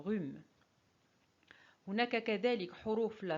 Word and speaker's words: rhume: Le H dans hibou et H dans rhume.